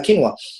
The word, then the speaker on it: quinoa: recently I've actually changed that for uh uh quinoa I hope I pronounced it right you did I'm a quinoa